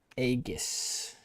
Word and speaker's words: Aeghis: Isn't Aegis pronounced egis? I think this is egis which no this word is pronounced aegis. My name is pronounced eggis. Egg.